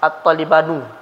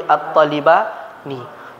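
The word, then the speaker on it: الطالبانِ: Jadi bacanya enggak ada at-talibanu, tapi at-talibani. Setiap isim musanna, isim dua, di akhirnya itu baik dia posisinya marfu' atau posisinya mansub, tetap dibaca nunnya kasrah.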